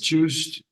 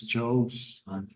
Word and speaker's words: chose: No, the pronunciation is different. This is choose, okay, it's not correct, and the past tense is chose.